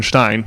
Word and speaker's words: Stein: that last syllable Stein the German Stein um the Germans the the key to Germans when you see the E and the I with Germany with in German you just enunciate the second syllable so s t i n the German word for stone Stein you just pronounce the